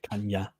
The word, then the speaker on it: picanha: Yeah, this NH is a bit of a pain in Portuguese. Okay, so it becomes like a double N nearly. Yep. Picanha.